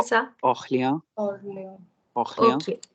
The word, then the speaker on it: Orléans: Orléans. Orléans. Orléans. Okay. La prononciation, c'est Orléans. Yes, AN is on, okay, which will come a little later.